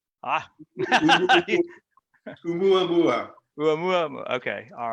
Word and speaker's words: Oumuamua: Umamua. 2018? Close. It's pronounced just as it's spelled. Ah. Oumuamua.